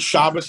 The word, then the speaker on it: Shabbos: Shabbos has kept the Jewish people the word Shabbos and Shabbat are interchangeable in case you weren't sure it's obviously a Hebrew pronunciation of how you would dialect of human